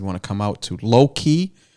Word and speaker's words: Loki: to come out to Low Key in Drake, Massachusetts, Low Key. It's in Drake, Mass. Sounds like an R&B band from the 90s. It's spelled Loki. Yeah.